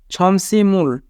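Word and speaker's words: 점심을: কত সিএ মানে টাই ছমসিমুল ছমসিমুল মানে দুপুরের খাবার এখানে বাচ্চিমের পরে ইয়ং থাকার কারণে বাচ্চিমটি ইয়ং এর স্থানে যাবে তাই উচ্চারণ হবে ছমসিমুল ছমসিমুল মানে দুপুরের খাবার মগায়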